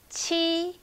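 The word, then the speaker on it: 七: okay so number seven chi chi this one you can think about chi for cheese cheese but don't make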